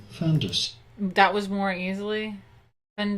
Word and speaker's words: fin de siècle: In France, in French, we would say it as fin de siècle.